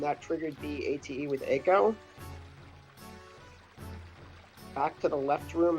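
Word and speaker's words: Eiko: movement foreign I honestly thought it was pronounced Ico because the letters e and I are the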